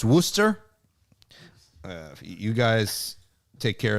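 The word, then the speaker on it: Worcester: like you can easily so warcaster is pronounced Wooster uh you guys take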